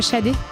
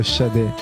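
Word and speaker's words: Sade: C'est Shadé. C'est Smooth Operator. Smooth Operator de Shadé.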